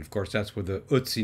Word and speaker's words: Ötzi: I'm sure I'm still not pronouncing it properly, but it's not Ötzi, it's not Ötzi, it's Ötzi, or something quite like it.